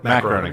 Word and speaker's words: Groening: Matt Groening. Sorry, Matt Groening, or Groening, I think is how you say his name.